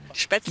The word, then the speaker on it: Spätzle: The pronunciation can be a challenge, though. Spätzle.